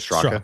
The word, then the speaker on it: Straka: When when you were with Brandon Straka, sorry if I'm Did I pronounce that right? Is it Straka?